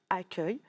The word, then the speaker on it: accueil: Et du coup, ici, pour dire accueil, on a inversé les deux lettres, le U et le E. Du coup, dans accueil, le son œil s'écrira U-E-I-L, comme dans le verbe cueillir.